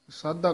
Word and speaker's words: साधा: ऐसा वणज करहु गृह पीतर जित उतरै भूख प्यासा हे सगले कर्म धर्म जुग साधा नहीं, साधा साधा कस के उच्चारण करना है।